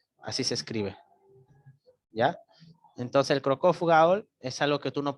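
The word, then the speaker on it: Cockcroft-Gault: creatinina, puedes hacerlo con Crocov-Gaul, ¿ya? Crocov-Gaul se escribe Cockcroft, termina en T, Gaul, ¿ya?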